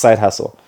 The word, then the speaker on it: SYDEHASSLE: it's SYDEHASSLE, pronounced side hustle.